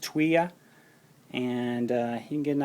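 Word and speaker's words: Thuya: First one here is called Tuya wood. It's spelled T-H-U-Y-A, but pronounced Tuya.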